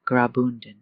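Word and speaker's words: Graubünden: The Albula line is part of the Rian Railway, a UNESCO World Heritage journey that runs quietly through the canton of Grobundon, that's pronounced Grabund.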